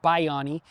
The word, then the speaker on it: Bayani: It's actually pronounced Bayani, but we call him Bayani, and it means hero.